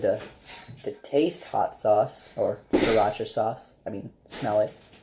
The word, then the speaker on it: Sriracha: It's spelled Sriracha. I pronounce it Sriracha.